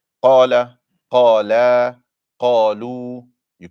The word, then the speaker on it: قال: The most important thing in qala is the heaviness of the qaf. So qala, not qala.